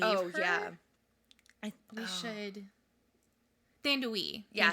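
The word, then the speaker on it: Thandiwe: Thandui. Yeah, Thandui Newton.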